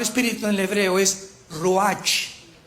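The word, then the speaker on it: רוּחַ: Porque la palabra espíritu en el hebreo es roach con R de Raúl y ch se pronuncia roaj.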